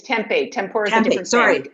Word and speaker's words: tempeh: No, tempeh, it's not tempura. It's tempeh.